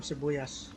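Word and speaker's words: sibuyas: also called cevoyas yeah we call them sebuyas but we spell it s like i said philip tagalog is all phonetic it's s-i-b-u-y-a-s and it's got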